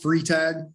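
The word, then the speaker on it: Freitag: to mess it up it's pronounced free tag free tag it's not how anybody would say uh board members uh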